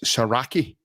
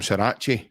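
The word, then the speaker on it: Saracchi: It's Saraki. That's the way that's the way he's pronounced over in Argentina. Um, it's Marcelo Saraki, but obviously the way it looks to us is we're calling him Sarra.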